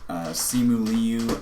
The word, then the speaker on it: Simu Liu: It stars Simu Liu as Shang-Chi, and that's how you pronounce his name.